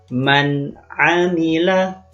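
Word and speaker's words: مَنْ عَمِلَ: hukum bacaannya disebut izhar maka membunyikan huruf nun nya nanti dibaca dengan jelas Bagaimana contoh membacanya perhatikan baik-baik audzubillahiminasyaitonirojim Bismillahirohmanirohim Man Amila atau juga ada bunyinya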